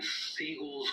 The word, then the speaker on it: Seagal: Here's where things get interesting during Seagal's role as the sensei. Oh, and if you wonder why I keep saying Steven's last name is Seagal, it's because that's the actual proper pronunciation of his name.